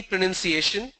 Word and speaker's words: pronunciation: If I have to break it for easy pronunciation, it will be pro, nun, C, A, shin. Pronunciation. That is how I pronounce it.